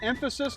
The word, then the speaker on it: Emphasis: How do you say that? Emphasis, like put emphasis on this word right here?